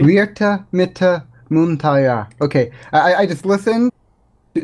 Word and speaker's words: Virtamittamuuntaja: You have pronounced it on many occasions with the W sound rather than the V sound, so I guess that would be... And I guess the J is more of a silent thing, so Virtamittamuuntaja? Maybe?